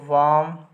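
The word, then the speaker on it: warm: and brave people थे एक तो वाम याद रहे यहां पर आर साइलेंट होता है इससे वाम पढ़ते हैं वाम एंड ब्रेव वाम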